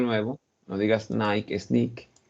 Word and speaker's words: Nick: First, the name is Nick. It's not Nike, it's Nick, and this word is sky, right?